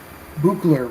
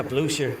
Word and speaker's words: Blucher: I know that you were touting his Buchler rules a few years ago. Yeah, Blucher.